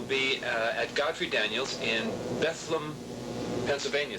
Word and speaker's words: Bethlehem: at Godfrey Daniels in Bethlem Pennsylvania spelled Bethlehem but rhymes with bedlam Pennsylvania 30th of June